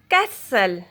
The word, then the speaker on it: castle: Normally silent T if a words end in STLE. Castle, whistle, hustle, nestle, bristle.